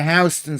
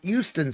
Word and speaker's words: Houston: It's like you go to New York and you go to Hston Street and you say, "Isn't it Houston Street?" No, it's How is that the funniest thing?